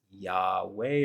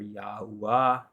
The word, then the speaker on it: Yahweh: Yahoo or you know there's different pronunciations if you're saying yeah you're close enough in my opinion because uh you know the diagramaton is yah or yo and the tetragrammaton is Yahweh or yahwah or yahuwah or yahuwah I mean